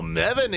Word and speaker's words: Meven: Which one is it Meven or Meven? No. SCV is moving out. HyperONE still scouting for the expansion. Right, oh, Rhymes with 7. Yeah, there we go. There we go. Rhymes with 7. Meven.